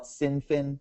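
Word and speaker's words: Cynefin: if they call it sinin they if they call it kfin which is apparently the Welsh uh the the Welsh pronunciation then they they uh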